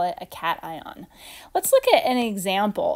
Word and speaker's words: cation: of ion a cation that's pronounced cation not cassian it's cation like kitty cat a cation is just